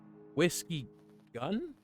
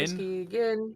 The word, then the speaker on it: Whiskyguin: whiskey, gin. It's Oh. it's like I know it's like gin like Guinness Oh, okay, okay. or gin like whiskey and gin.